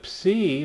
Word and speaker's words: psi: Then we have the psi, which makes the PS sound. Most people don't emphasize the P and let it be kind of silent, so that's where we get words like psychology or psychiatry.